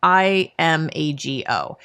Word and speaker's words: Imago: So the first one is something called Imago or Imago or Imago. I've heard it pronounced many ways. It's Imago. And this was first, I